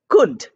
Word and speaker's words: could: have o u l o u l are not pronounced in you know the way it is written but it's pronounced as o the short u sound we don't say C we don't say would we don't say should we say should or would or could so short oo sound and I've given you